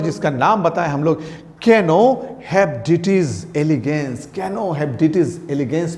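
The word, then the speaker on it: Caenorhabditis: ये लिखा हुआ है आर यहाँ पे, बट इसको हम लोग कहते हैं कैनो, आर का प्रोनाउंसिएशन नहीं होता है, हेप्डिटिस।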